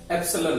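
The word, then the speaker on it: epsilon: Spelling देख लीजिए, इसको इंग्लिश में प्रोनाउंसिएशन एप्सिलॉन है, इसका इंग्लिश में प्रोनाउंसिएशन है एप्सिलॉन।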